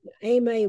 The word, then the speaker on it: Aimee: Aimee, we know that the name because of Eudora's friend here in Jackson was Aimee, so that'll be the pronunciation here.